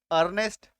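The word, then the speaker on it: earnest: ए रहा है इस शब्द में आपको एक उच्चारण नहीं करना है और क्या पढ़ना है ए आर एन ए एस टी अर्नेस्ट Aryabhata समझ में ठीक है नेक्स्ट देखो ए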